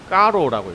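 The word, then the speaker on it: Carreau: 프랑스 사람인가봐요. 까로라고 읽더라고요.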